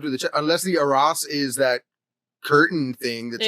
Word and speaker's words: arras: No, it's not arse. It's Arras.